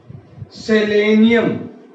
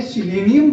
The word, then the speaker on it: सेलेनियम: सेलेनियम, क्या नाम होता है? सेलेनियम। कई किताबें सिलेनियम भी लिखती है बेटा। एक ही चीज है, ध्यान रखना, सेलेनियम उच्चारण होता है इसका।